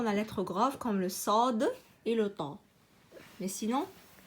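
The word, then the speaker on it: ص: Sod. Hein, bien, il faut bien prononcer la lettre Sod parce que c'est une lettre grave.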